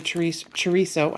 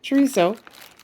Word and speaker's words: chorizo: I'm going to use some, this is the chorizo, I keep saying it wrong, chorizo and potatoes, and with a little bit of jalapeno in there.